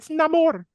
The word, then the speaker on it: Namor: No, I'm talking about what you're trying to say is, and I'll pronounce it correctly because uh Brit Williams will say it's Namore, Whatever.